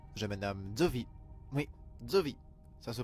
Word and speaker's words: Szovi: de tourmente bonjour j'ai madame de vide mes djovi ça se prononce dieu comme l'on prononce zoo qaïda mais